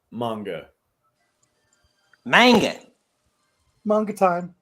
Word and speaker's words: manga: It is pronounced manga.